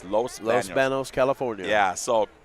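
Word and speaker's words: Los Baños: Los Banos. I always say Los. It's Los Banos.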